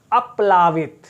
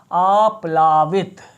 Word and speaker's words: आप्लावित: देखिए अप्लावित, अप्लावित ये गलत, अपलवित, ये भी गलत। अपलवित, ये भी गलत। आप्लावित, आप्लावित, ये सही उत्तर है।